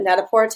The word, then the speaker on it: Net-a-Porter: you guys today is Net-a-Porter. You can also pronounce it Net-a-Porter. I believe it's French, and that's the original technical way to say it, but it can be interchangeable, and I like Net-a-Porter.